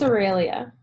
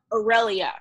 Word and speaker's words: Aurelia: good with y'all and Ariely am i pronouncing your name correctly it's Aurelia irelia okay okay then perfect